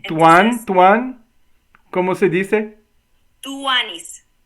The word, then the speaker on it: tuanis: Cómo se dice tuan tuan Cómo se dice tuanis tuanis t u a n y s Ah tuanis